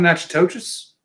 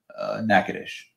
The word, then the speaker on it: Natchitoches: South of Natchitoches. Natchitoches. No, Natchitoches, but it's north of Lake Charles. I mean, that's... Well, you pronounce it Natchitoches.